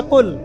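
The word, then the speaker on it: قل: কিন্তু আপনি যদি কফ এর মাখরাজটা ভুল করেন এবং কফ না বলে আপনি ছোট কাফ পড়েন এবং কুল না পড়ে আপনি কুল পড়েন বলেন যে কুলহু আল্লাহু আহাদ তাহলে অর্থটা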